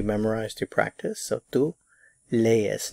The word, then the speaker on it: lees: Lees. Notice that these are two separate syllables, so you have to pronounce each one in a separate syllable. Lees, lees.